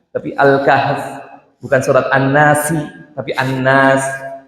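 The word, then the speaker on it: الكهف: Surat An-Nas, surat Abbas, surat Al-Kahf gitu. Bukan Al-Kahfi tapi Al-Kahf, bukan surat An-Nasi tapi An-Nas.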